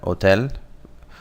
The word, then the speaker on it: hotel: We have hotel. Note here that H's are silent in Spanish.